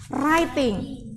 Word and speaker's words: writing: yang pas awal pertemuan harusnya bacanya writing writing ada w-nya tapi w-nya enggak usah dianggap Biarin aja dia nangis